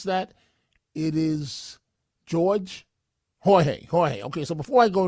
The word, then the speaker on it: Jorge: So wait, please, before I go to the next call here, Kearney, New Jersey, Jose, or is it, how does he pronounce that? It is Jorge.